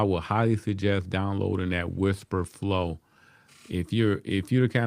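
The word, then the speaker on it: Wispr Flow: So on their channel, they talked about an app called Whisper Flow. It's spelled Wispr for anybody interested in it. Whisper Flow.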